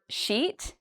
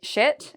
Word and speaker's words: sheet: Okay, so I know a lot of students have trouble with the word sheet, and they say shit, which is, a bad word in English.